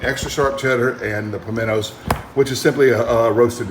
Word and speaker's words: pimiento: roasted red bell pepper pimiento pinto is the spanish word for um bell pepper all right and it's spelled with an i in spanish but most uh english speakers will talk about feminine cheese leave the eye out in the title of